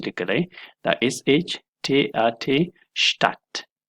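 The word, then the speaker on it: Stadt: ځای کې اکثره وخت دا D چې ده دا سایلنت وي، یعنی نه تلفظ کیږي. د مثال په ډول سره شتات د دې تلفظ دی، دا تلفظ کیږي شتات، یعنی په دې ځای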